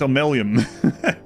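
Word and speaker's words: Omeluum: It's pronounced a little bit differently than it's spelled, but it starts with an M. It starts with an O. It's Omelium.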